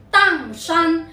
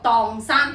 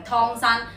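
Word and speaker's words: 砀山: 老老实实，有冇人将呢个地方曾经读成汤山嘅咧？普通话唔系读汤，系读当山。粤语读荡山，不是汤山。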